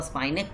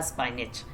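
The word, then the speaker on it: spinach: ऐसे हम लोग इसको स्पाइनेक पढ़ते हैं, लेकिन रियल में इसका प्रोनाउंसिएशन जो होता है वो होता है स्पाइनेच है ना।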